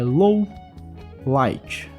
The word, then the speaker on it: Lawliet: Já a segunda versão é low light.